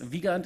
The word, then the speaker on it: Wiegand: One of the words that you will encounter repeatedly is Wiegand, or I'm not sure the Americans might pronounce that Wiegand. It's Wiegand, it's a person, John Wiegand, who